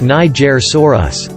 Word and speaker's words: Nigersaurus: from ct scans name nigersaurus pronounced niger soros named by sereno beck